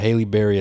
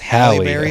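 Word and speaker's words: Halle Berry: for real man number four man we got Haley Barry as catw one hi hi Hal was haly no I it looks like it right looks like Haley but it's it's pronounced halberry which by the way is the actress that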